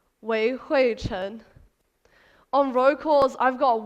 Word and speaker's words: Wei Hui Chen: So the name on my passport is Wei Hui Chen, and that's how you pronounce it correctly, Wei Hui Chen. On roll calls, I've got Wen Hua, I've got Wei Hu, I've got Wei Ho.